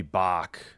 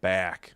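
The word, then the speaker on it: Bak: It's got to be Bach. Capital B-A-K. Yeah, if it's Swedish, it's Bach. The LA announcers were saying back.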